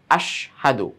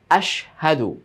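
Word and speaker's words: أشهد: থেকে একটা শব্দ কি আশহাদু। তো অনেক সময় উচ্চারণটা এমনভাবে হয়ে যায় যে হাটা যে এখানে আছে বলাই যায় না বা বুঝাই যায় না, মানে আশহাদু আশহাদু এরকম হয়ে যায় না।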